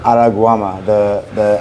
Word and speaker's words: Araruama: Araruama? Araguama.